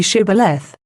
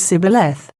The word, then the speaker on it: Shibboleth: that way, say ye Shibboleth. But they, being of a different tribe, could not frame to pronounce it aright, and pronounced it Sibboleth, which trifling defect proved them to be spies, and cost them their lives.